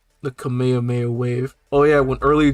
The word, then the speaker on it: Kamehameha: Goku firing off his Kamehameha he calls it the kamehamehan was just like bro that's so weird for you to do you know how to pronounce it why did you just do it wrong I'm sorry if you